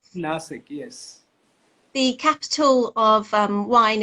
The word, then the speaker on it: Nasik: You're based in, it's pronounced Nasik, right? Nasik, yes.